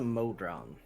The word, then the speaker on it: modron: Vorel, what's a modron? Did I get that right, DM? Modron is the pronunciation, yes?